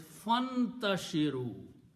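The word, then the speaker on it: فانتشروا: and you read together, you don't pronounce this alif in the middle. So this alif becomes a hamzatul wasl. And the pronunciation is fantashiru.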